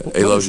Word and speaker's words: alogia: for a lot of them that said that alogia what's am I pronouncing that right yeah alogia is not talking diminish speech output right talking